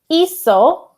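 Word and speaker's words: hizo: two Eos e also notice the H is silent soos now Dar and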